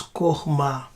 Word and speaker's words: chokhmah: Chokhmah. Chokhmah. Now they say they pronounce it as Chokhmah.